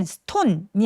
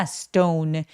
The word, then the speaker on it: stone: stone 할 때 아까 말씀드렸지만 S 뒤에 T는 된 소리 살짝 내주시고요. 이 O는 stone이 아니라 stone. O처럼 모음 소리를 길게 내주시는 게 필요합니다.